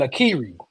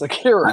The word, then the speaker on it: Akira: 1961 samurai film directed by Akira Kurosawa, who also co-wrote the screenplay. Wow, this guy is a beast, man. Bro, I why did you not. keep saying Akiri? It's Akira.